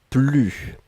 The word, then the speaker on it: plus: ne et ensuite plus et là on ne prononce pas le s ne plus d'accord je n'en avais